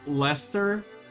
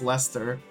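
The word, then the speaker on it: Leicester: the quest again how lester the earl of i mean that's how they pronounce it as lester but that's just funny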